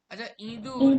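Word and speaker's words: ইঁদুর: কি বললাম ইদুর কি বললাম কি বললাম ইদুর ইদুর এই শব্দটা এই শব্দটায় হসয়ের যে ধ্বনিটা সেটা কি ধ্বনি না মাথায় চন্দ্রবিন্দু উচ্চারণ মানে চন্দ্রবিন্দু লিখেছি মানে আমি নাসিকার মাধ্যমে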